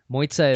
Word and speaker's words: Mojca: show March and please correct me if my pronunciation is way off moitza is from Slovenia correct correct okay and how